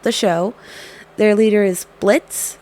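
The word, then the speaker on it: Blitzø: show their leader is Blitz the O is silent his name is really blitzo but like every episode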